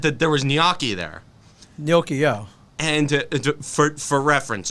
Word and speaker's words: gnocchi: okay i had that there was gnocchi there gnocchio and for reference it's pronounced gnocchi not ganache not ganache no no at least when you're